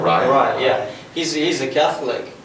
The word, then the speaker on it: Araya: So the next question, Tom Araya, or Araya, how do you pronounce it? Araya. Araya.